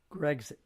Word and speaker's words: Grexit: I'm going to spell it, and you pronounce it Grexit. Grexit. I have to see it. G-R-E. No, I have to see it. You can't spell it out for me. It's Grexit.